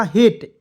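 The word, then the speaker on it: hate: जब भी अंतिम में ई आएगा तो उसको उच्चारण ए के रूप में होता है, तो इससे ह लिखेंगे, ई आएगा तो इसको उच्चारण ए के रूप में टी से ट, तो क्या हो जाएगा हेट, HAT।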